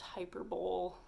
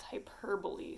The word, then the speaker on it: hyperbole: right three is hyperbole it's not pronounced hyperbole it's not like the super bowl hyperbole no it's hyperbole so hyperbole is something